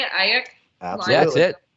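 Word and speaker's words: Aiyuk: Ayuk?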